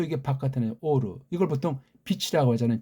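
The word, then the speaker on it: אור: 요거 오는 발음상 이걸 모음으로 오자를 발음을 쳐놨는데 엉터리예요. 엉터리. 알레프, 바브, 레이슈 다 뜻과 소리가 다 담겨 있고 어우러진 거란 말이에요. 근본을 유추해 볼 때. 근데 이거 바브자를 자음이 아니고 모음을 해버린 건 잘못된 거예요.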